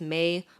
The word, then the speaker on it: Mei: right it's Mei it's May but it's pronounced like the month and I always got like uh Mia and Mii were the most common